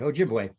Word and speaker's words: Ojibwe: You're pretty good, Ojibwe.